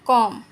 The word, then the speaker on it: comb: ये जैसे कि COMB, बी साइलेंट है, इसको हम पढ़ेंगे कॉम।